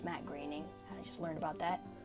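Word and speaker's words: Matt Groening: supposed to stand for matte grainy most people pronounce it matt groaning but apparently it's matte greening i just learned about that but matt grayning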